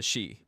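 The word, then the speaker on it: Sidhe: the she the the shei the shei which is uh um actually let me just spell it out for you so the she which is Irish and if you know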